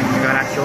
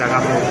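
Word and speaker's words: Karacho: de wrij van eh carajo word net heel tijd verkeerd uitgesproken caracho Maar het is carajo dus eh Hij is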